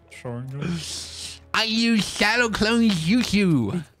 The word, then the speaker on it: Sharingan: It's actually officially pronounced the Sharingan. it's not Sharingan, it's Sharingan.